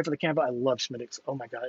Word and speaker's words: Smithwick's: I love Smittix. Oh, my God. It's so delicious. I know it's called Smithwick's.